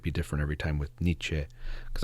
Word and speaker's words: Nietzsche: different every time with Niche because I've heard of Nich. Definitely not Nichi. I I I learned that that you're not supposed to say it that way.